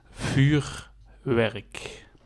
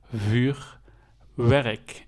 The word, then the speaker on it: vuurwerk: From The Netherlands It typical Dutch and you pronounced like this vuurwerk vuurwerk silverst vuur It's Fire vuurwerk en werkmienswork zo in Total you say vuurwerk